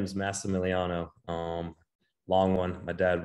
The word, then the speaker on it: Massimiliano: I'm super excited yes so give us the pronunciation first name go everyone owes me as but my real name is massimiliano um long one my dad was Dad was